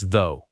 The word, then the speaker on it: though: Number 47 is though. It sounds like the rhyming with go.